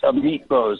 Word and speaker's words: Amit Bose: the senate just confirmed is his name ahmet bose am i pronouncing that uh correctly it's a meat bose yes um but he's so